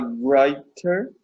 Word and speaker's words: writer: She's a writer. Writer. Don't pronounce the W, just the R.